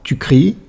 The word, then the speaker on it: cries: On voit que dans tu cries, la lettre S à la fin ne se prononce pas. On dit que c'est une lettre muette.